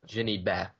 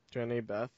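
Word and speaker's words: Jehnny Beth: And the uh in Savages is uh Jenny Bat. Is that how I pronounce it? Jenny Beth.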